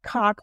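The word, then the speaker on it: Coq: And folks, that's spelled C-O-Q, by the way, just so you know that. Cock is spelled C-O-Q. French for rooster, and the first book was Roost.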